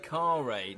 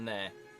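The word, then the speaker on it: Kharé: Oh, is it car raid? Not n right. Not nare. Come on now.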